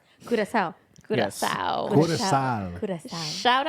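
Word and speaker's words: Curaçao: So CW is actually Curacao, where I kind of paused.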